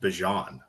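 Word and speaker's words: Bijan: It's actually pronounced Bjon, I guess, for what it's out for what it's worth.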